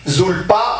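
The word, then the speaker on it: Zilpa: trouver dans les Écritures avec P zulpa mais le P se prononce et lui a donné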